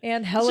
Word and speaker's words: Angelica: Angelica. It's just the Spanish pronunciation for I was it.